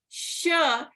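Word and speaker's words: श: pronunciation or sure and the easy way to remember is that sure is pronounced as in Shiva so Shiva Shah and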